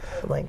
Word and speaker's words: Olenka: And how do you pronounce it? Olenka.